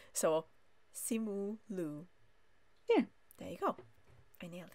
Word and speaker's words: Simu Liu: So Simu Liu.